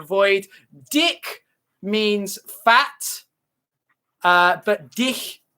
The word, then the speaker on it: dich: Dick means fat, but dich, you don't pronounce the end.